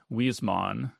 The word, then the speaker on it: Huysmans: It's a French novel from 1884 The author is Zoris Karl Huysmans. It's spelled, it looks like Huysmans, Huysmans. It's pronounced Huysman, I think.